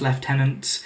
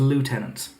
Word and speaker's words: lieutenant: don't like the fact I pronounce left tenants as in the British Way as opposed to lieutenant but that all in